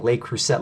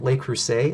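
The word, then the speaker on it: Le Creuset: on la cruz set i went my entire life saying lake cruset like a complete dummy um lake crusade is how you pronounce that and i don't know how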